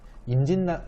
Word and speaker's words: 임진란: 이거 알아주시고, 그 다음에 1592년에 일본이 우리나라 쳐들어온 거, 임진에서 외자를 빼면 임진란이라고 하는데, 임진란도 임진난이라고 발음을 해요. 네, 임진난, 공권력은 그래도 좀 쓰는 단어인데 임진난은 자주 안 쓰이는 단어니까 암기가 필수로 필요하겠죠.